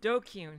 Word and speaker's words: DQN: is it tips list dqn pronounced dokyun here we go use